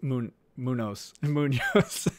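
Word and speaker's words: Muñoz: And Kevin Flesher says it's pronounced Munoz.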